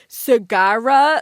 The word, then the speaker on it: Segarra: of te' be like Sagara, like Sagara, like how do you say that? You know, it just felt like it flowed a lot better when I said my name in Spanish.